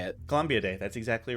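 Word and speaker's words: Columbidae: They're the same, like, Columbia Day, right? Or I'm not sure how you say it. Columbia Day.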